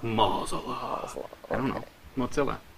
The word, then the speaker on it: Mozilla: if I pronounce it MOA Moosa Moosa Mo I don't know mozzilla I think Mozilla I think about Godzilla yeah and you know the movies that's a good way to remember yeah mozzilla Godzilla now do you